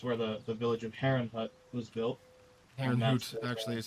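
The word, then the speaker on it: Herrnhut: his land is where the the village of heron Hut was built actually is how it's pronounced yeah either way but that's that's where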